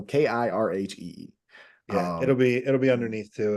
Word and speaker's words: Kirhee: So I'm gonna spell it out, Kirhee, because if I just lead you astray by saying Kirhee, right? So it's Kilo India Romeo Hotel Echo Echo Cooper. So Kirhee.